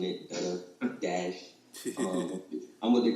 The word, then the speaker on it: Duddadash: A lot of people have a hard time pronouncing it. Dudda Dash.